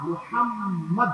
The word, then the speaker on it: মুহাম্মদ: দেখুন নবীর যে নাম এ রাসূলের যে নাম মোহাম্মদ মহাম্মদ এই নামের মধ্যে দুই ঠুকে দুবার মিল